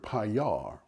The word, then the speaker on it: Paillard: people pronounce the word payar with a silent d now if you speak